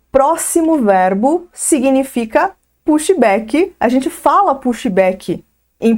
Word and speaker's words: pushback: Mas como que se pronuncia de forma correta essa palavra, pushback? Vamos começar pelo U. O U aqui, ele vai ganhar um som no meio do caminho, entre a letra U, entre o som do U e o O fechado.